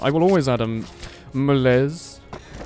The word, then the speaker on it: malaise: Malays cuz last time I was calling it Malaise and the man in chat said I'm not using the correct French pronunciation.